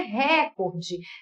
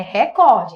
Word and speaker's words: recorde: correto é gratuito viu da mesma forma que não é Record é Record independentemente do sentido de ser verbo de não ser verbo é recorde recorde não é do português